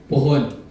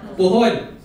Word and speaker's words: puhon: So one of my favorite words in Bisaya is the word puhon. Okay, puhon. When you spell it, it's gonna be P-U-H-O-N.